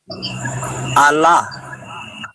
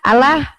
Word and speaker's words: Allah: Allah. Salah Bapak, itu L-nya 2 Pak. Nah, yang Bapak baca itu L-nya 1.